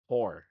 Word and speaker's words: Hore: Like it's spelled HORE. Huh. Whore.